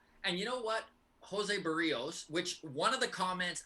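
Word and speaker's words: Berríos: It is not Berrios, and it was the most helpful comment of all of your comments. He's like, it is pronounced like burrito, but you take the T off.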